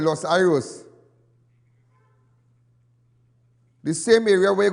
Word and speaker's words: Los Iros: The more fact, many of you know the area of Los Iros, but the correct pronunciation is Los Iros.